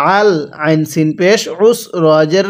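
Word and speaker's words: العسر: তাহলে ফা ইন্না মাআল উসরি, আইনটা পড়ার সময় আমরা গলার মধ্যে একটু চাপ দিয়ে পড়ব, তাহলেই এই আইনটা সহি শুদ্ধ উচ্চারণ হবে, অন্যথায় আইনটা হামজা উচ্চারণ হয়ে যাবে।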